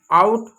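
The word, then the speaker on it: out: अब देखिए नियम number 7, ओ यू ओ डब्ल्यू, ओ का उच्चारण ए यू और ए डब्ल्यू जैसा होता है। ठीक है, अब एग्जाम्पल तौर पे दिखा दो। आउट, house, now, काउ।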